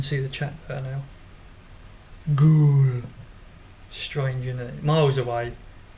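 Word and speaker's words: Goole: It's called Ghoul. Try and type it out. Not Google. It's spelt Google, but without the G.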